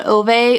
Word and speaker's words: Ove: I read A Man Called Ove, or I think it's pronounced Uva actually.